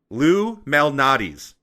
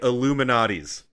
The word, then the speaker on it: Lou Malnati's: Y'all don't pronounce it correctly. Lou Malnati's. Everyone says it like they're saying Illuminati's.